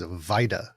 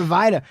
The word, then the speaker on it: Weide: oppression uh pronunciation is Vita W is pronounced as a v yeah Massey W and an E and A D I say weed but okay all right Vita and uh on the